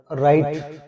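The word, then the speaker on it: write: यहाँ पर राइट, W silent है, डब्ल्यू की आवाज नहीं, डब्ल्यू की आवाज यहाँ पर नहीं आएगी।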